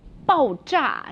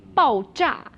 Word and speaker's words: 爆炸: 爆炸. So it sounds like bang, right? 爆炸.